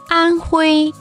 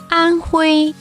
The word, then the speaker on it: Anhui: Anhui, Anhui, 安徽，安徽，安徽，安徽。